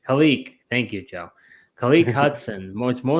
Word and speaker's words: Khaleke: Khaleke.